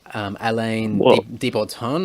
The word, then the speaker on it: Alain de Botton: from the UK, and I always pronounce his name wrong because it's French, but it's Alain de Botton or something like that.